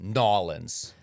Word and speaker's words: New Orleans: It's pronounced Norins. Oh, okay. You have to say no. I don't think I'm going to be Norans.